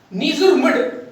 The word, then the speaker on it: Ngerulmud: और नीजुरमुड, जो कुछ भी इसकी स्पेल आउट में कर देता हूं, जो कुछ प्रोनाउंस किया जाता है इसको, ठीक है, नीजुरमुड, NGERULMUD, ये इसकी कैपिटल है।